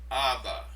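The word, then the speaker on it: ἀββά: The first one should be pronounced Abba.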